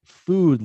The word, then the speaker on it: food: good it doesn't rhyme food doesn't rhyme with good it's food with a u sound